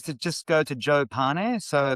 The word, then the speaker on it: Pane: Best way is to just go to Joe Pane. So the surname is pronounced Pane by the way, Tom, which means bread in Italian.